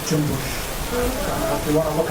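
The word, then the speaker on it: Cumbus: So don't pronounce it the way it's spelled. Pronounce it Jumbush.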